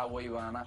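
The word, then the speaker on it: Agüeybaná: Ayúdame, ayúdame a pronunciar correctamente. A ver, por ti bajo a los santos ya. A Agüeybana.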